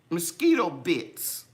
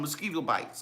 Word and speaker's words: Mosquito Bits: I was calling them mosquito bites, because when I think of mosquitoes, I think it's mosquito bites. But they're actually called bits.